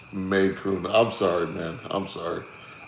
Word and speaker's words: Macon: Kirby said Mukon. It's pronounced Maycoon. I'm sorry, man. I'm sorry. I didn't had a couple whiskeys, smoking a cigar. My apologies. Macon.